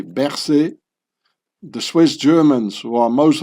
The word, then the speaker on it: Berset: The French pronunciation would be Berset.